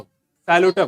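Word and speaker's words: Psilotum: P silent, ये देख रहे हो यहाँ पे। इसमें एग्जाम्पल क्या है? देखो, साइलोटम क्या है?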